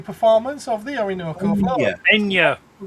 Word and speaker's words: Enya: Enya. Not Anya. Enya. Enya. I'm fairly sure that when she says her name, she has a bit of a pronunciation to it. That's because she's Irish. It's an accent.